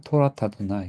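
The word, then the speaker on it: תורת אדני: 토라타도나이 이렇게 토 토라트 숨쉬고 아도나이 이렇게 하면 안 되고요. 토라타도나이 한다인 거죠.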